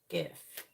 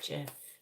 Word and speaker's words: GIF: saying yeah soft Genie GIF it's gif not Jeff all right please tell